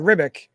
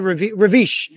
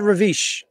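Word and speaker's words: Ribić: I always said Esad Ribic, but it's like Esad Ravish. Esad Ravish. The B has a V sound.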